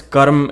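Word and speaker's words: कर्म: from Hindi like Karma karma in Hindi and karma karma in Sanskrit so karma the word is Karam and I don't know who changed it to Karma and now everyone is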